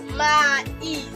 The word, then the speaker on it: maïs: You have your ma, e, then is. If you are pronouncing it, the sounds are separate. Like you can hear the sound separately.